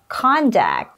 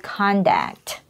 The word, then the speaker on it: conduct: to share today is this word it is pronounced as conduct means Behavior it is a noun so good or bad conduct the company has a straight code of conduct you will pronounce this word conduct on the